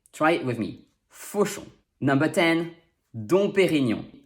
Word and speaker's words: Dom Pérignon: me number don perignon this one is fun because it rhymes although the song is spelled differently in both words the om spelling is very rare though remember that e with this accent sounds like e and g n is